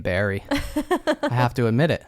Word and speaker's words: Barre: even though Wilkes-Barre is technically the the correct pronunciation is Barry which is why I thought not that I